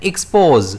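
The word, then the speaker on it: expose: इस वर्ड को हम प्रोनाउंस कैसे करते हैं? एक्सपोज। इस वर्ड में स्ट्रेस रहता है एस पर।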